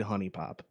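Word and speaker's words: HuniePop: you ever played Honey Pop? Is that how it's pronounced?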